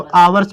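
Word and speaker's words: hours: आवर्स नहीं पढ़ेंगे इसको, आवर्स पढ़ेंगे, क्योंकि ये H साइलेंट है, ठीक है, आवर्स, ठीक है।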